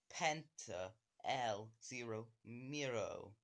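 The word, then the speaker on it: Penta El Zero Miedo: Penta El Zero Miro.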